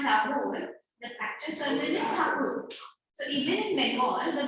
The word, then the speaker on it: Thakur: Like Rabindranath Tagore, the actual surname is Thakur. So even in Bengal, the Bengalis always refer to him as Thakur. So Britishers pronounced Thakur as Tagore, and so it became Tagore.